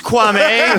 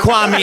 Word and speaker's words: Kwame: It's Kwame, not Kwame, and people are just like, what? It's just spelled the same.